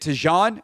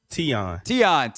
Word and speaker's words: Tion: Is it Tijan? Tijan online too? Do I have your name pronounced correctly? Tion, my bad.